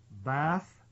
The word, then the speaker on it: Beth: that related to this was Beth has pronounced bath Jaa and it was